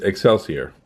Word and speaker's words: Excelsior: called extra Court okay they probably didn't mean for it to be pronounced that way if you just say the letters it becomes X LCR or you can change it up just a wee bit and it becomes Excelsior Excelsior is characterized by